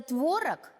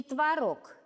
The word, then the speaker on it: творог: Что за странный носорог ел и творог, и творог? Вы увидели? Творог, творог. Удивительно. А как же правильно? Давайте разбираться. Оказывается, в русском языке существуют слова с так называемым двойным ударением.